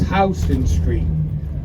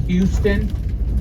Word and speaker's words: Houston Street: if you look right here folks this is Houston Street so once again that's how it's pronounced it's not Houston Houston is in Texas but it's named after